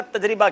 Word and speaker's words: تجربہ: تجربہ یا تجربہ, آپ کا تجربہ کیا ہے؟ تجربہ راہ پہ زیر ہے.